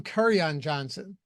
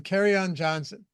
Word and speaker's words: Kerryon Johnson: Because I would call him Curryon Johnson. And Kyle just absolutely, for some reason, had a true disdain for me whenever I would pronounce it like that.